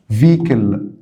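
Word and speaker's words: vehicle: معين او موقف معين فيكل فيكل طبعا هنا الاتش سايلنت هنا الاتش سايلنت طبعا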